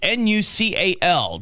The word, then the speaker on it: nuchal: And there now you're saying nucle and that's n u c n. I'm not saying it right. No. No. Yeah, you're saying it but you're saying it so fast. It's n u c a l. Just so people understand when you say nucal ligament.